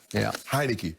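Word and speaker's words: Heinicke: Heineke rhymes with Meineke.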